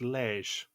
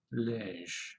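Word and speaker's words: Liège: the saunders way liz it's lege according to google lish all right they wake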